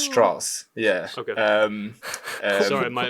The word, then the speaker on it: Strauss: actually did know about Lis Strauss and it's pronounced Strauss yeah okay um sorry my my my my